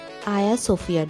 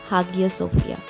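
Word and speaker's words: Hagia Sophia: এখন আমরা এগিয়ে যাচ্ছি আয়া সোফিয়ার দিকে যেটা ইংলিশে প্রোনাউন্সিয়েশন হাগিয়া সোফিয়া সো দুটোই নাম কিন্তু আমরা প্রোনাউন্স করতে পারি পুরো জায়গাটাই অসাধারণ আর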